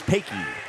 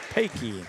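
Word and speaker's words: Pecha: P-E-C-H-A spells Pakey. Pakey.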